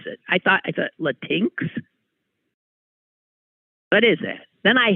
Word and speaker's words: Latinx: When I first saw it, I didn't even know how to pronounce it. I thought Latinx? What is that? Then I heard, thank God, somebody say Latinx. Oh, it's Latinx.